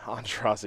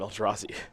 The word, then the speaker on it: Aintrazi: There's Sunken Hollow from Aintrazi. I almost called him Eldrazi. Pass the turn back. I'm sure that is not the first time that mistake has been made. Yeah. Both phonetically, sounds pretty close, and he regularly has